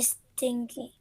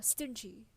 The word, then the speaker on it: stingy: It's not stinky. You're actually completely. This is another word. Stinky. It mispronunciation can lead to misunderstanding. So stinky, it means that it is really annoying in like in smell. So it's kind of like that. It's unpleasant smelling. But yeah, stingy. That is the right pronunciation of it.